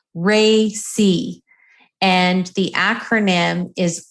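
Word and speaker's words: RACI: who have not seen this again it it's pronounced Ray C and the acronym is r a CI and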